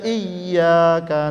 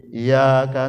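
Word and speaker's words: إِيَّاكَ: Kalau kita baca iyyaka na'budu wa iyyaka nasta'in pakai tasydid, Pak, ditahan sedikit, itu artinya hanya kepada Engkau kami menyembah, hanya kepada Engkau kami memohon pertolongan.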